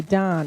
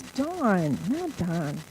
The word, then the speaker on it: Dawn: my first grade teacher they always used to call me Don and I'd say my name is dawn so let me tell